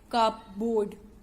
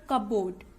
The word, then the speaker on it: cupboard: Now don't pronounce it like cupboard. It's not cupboard, it's cupboard, okay.